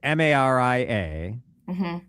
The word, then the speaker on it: Maria: So You have to see how it's spelled. it's Maria, Hmm.